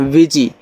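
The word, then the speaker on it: busy: तो यहां पे एस को ज पढ़ोगे।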